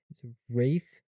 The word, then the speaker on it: Ralph: in Sing Sing, and this is a crazy pronunciation, but I think well deserved. It's Rafe Fiennes, which isn't that insane? But yeah, it's not Ralph Fiennes.